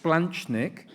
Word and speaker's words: splanchnic: morning splanchnic so thank you CLA it's it's pronounced splanchnic vain thrombosis um I don't know too much